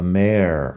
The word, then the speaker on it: mayor: The mayor. Mayor. M-A-Y-O-R. Mayor. Al final la pronunciación es igual a mare de yegua, la hembra del caballo.